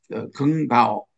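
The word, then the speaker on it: 耿飚: 칭화대학은 우리 그 한국으로 말하면 연세대학과 같은 그리고 학부 졸업 후에 국무원 긍바오 이게 중국어 발음입니다만은 부총리의 비서로 정치 생활을 시작했다고 합니다.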